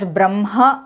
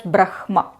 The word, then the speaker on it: Brahma: I have seen that they all pronounce it as bramha only and not as brahma. So that way we can definitely say that the correct pronunciation is Bramha and not brahma.